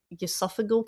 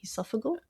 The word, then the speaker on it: esophageal: On July 17th, her brother Keith died of esophageal cancer. Oh, wow. Is that how you say it? Esophageal?